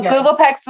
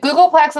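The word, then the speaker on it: googolplex: is the largest number the biggest number so Google PEX is the biggest number wait wait how did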